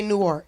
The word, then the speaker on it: Newark: Yeah, and if you from Newark, you say it like that, Newark. Yeah, I did not know that. Yeah. You don't say Newark. Okay, You say Newark.